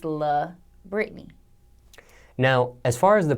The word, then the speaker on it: La'Britney: me the most when people just call me Britney because literally Britney is not my name my name is la Britney now as far as